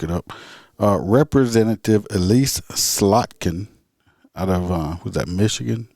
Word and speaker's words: Slotkin: anyway her it's it's i'm gonna say it's slotkin s-l-o-t-k-i-n i don't know slot can presents a gun storage